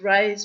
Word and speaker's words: Ra: name of the god the son God Ray or ra as I was taught to pronounce it and um he was